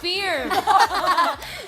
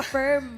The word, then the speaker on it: firm: Kasi ang IR ' ba girl and birds. So pag pinalitan natin yan, hindi niyo pwedeng gawing ear na steer at saka firm. That's still stir, firm and confirm.